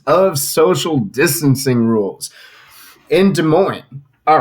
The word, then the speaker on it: Des Moines: Sorry, I said it wrong because here in Washington we call it Des Moines. How do you say it in Iowa? Des Moines. Oh. Yeah, no, it's definitely just Des Moines. Because you have to add the S.